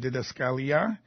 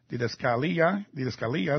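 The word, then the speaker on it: διδασκαλία: Doctrine, of course, comes from the Greek words didache and didaskalia. Didaskalia is how you say it.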